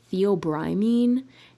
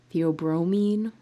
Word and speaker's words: theobromine: people talk about is the theobrimine theobromine i i'm not sure i think you can pronounce it both ways and um people say